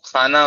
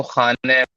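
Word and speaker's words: خانه: ایسا لگتا ہے کہ جو فارسی زبان ہے اس میں اے کا تلفظ زیادہ کامن ہے. جو خانے، ہم اگر اردو میں بولتے ہیں تو ہم خانہ بولتے ہیں، ہاں، بٹ فارسی میں اس کو خانے بولا جاتا ہے.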